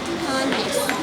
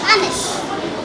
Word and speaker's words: honest: In all of these words, the letter H is silent. Number 1, do not say honest, rather say honest.